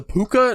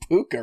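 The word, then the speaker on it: púca: differently but it's still puka right i would assume that's how it sounds uh because in ireland and uh gaelic all c's are all k's pronounced so they would still be puka because the first one's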